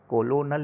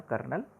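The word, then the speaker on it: colonel: थे कर्नल Hunt बच्चों कर्नल की स्पेलिंग देखो कितनी खतरनाक है सी ओ एल ओ एन एल है ना यह होता है इंग्लिश कोलोनल लिखते हैं और कर्नल पढ़ते हैं कर्नल हंट गेव मी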